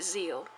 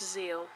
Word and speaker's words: Zeal: two episodes of Yu-Gi-Oh Zeal yes it is pronounced Zeal ignore this because it's just a nice little golden shuri that they decided to put in the middle of the word so yes it's pronounced Zeal but anyways episodes 1 and two have now